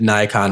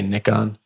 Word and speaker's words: Nikon: me it's concerned now I said Nikon my entire life and now I'm like am I supposed to say Nichkhun well so so English people say Nick on OK Americans say Nikon the actual correct pronunciation